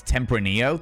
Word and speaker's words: Tempranillo: It's Tempranillo. Thank you very much, One True Cripple. I appreciate you correcting my pronunciation there.